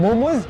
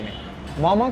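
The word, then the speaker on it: मःम: मोमोज़ सब्जी नहीं है नेपाली में। मम्मा क्या है कि ये एक नेवारी डेलीगेशंस है। ठीक है? एंड मामा it's pronounce मामा नॉट मोमो मामा। Which means? Which means cooked by steam. Oh!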